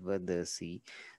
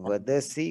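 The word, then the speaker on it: वदसि: रहा है जैसे पठसी वदसी, तो उसको बिल्कुल साफ शुद्ध उच्चारण करना है। तो वदसी को वदासी हम नहीं कह सकते, सारे।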